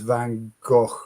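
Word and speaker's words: Van Gogh: Um, Van Go is Dutch pronounced and as Van Go, both the G and the CH pronounced as the ch in lo.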